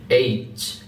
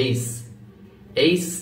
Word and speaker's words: H: এটা হল জি শক্ত করে বলুন একটু জি এইচ এখানে খুবই গুরুত্বপূর্ণ একটি বিষয় এইচ এই লেটারটি দেখুন এই লেটার বা ক্যারেক্টারটি আপনার অনেকে আমরা উচ্চারণ করতে পারি না।